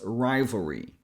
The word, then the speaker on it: rivalry: Then the last syllable is re. So an r sound followed by a tense e sound as in c free me. So if you put all together it becomes rivalry.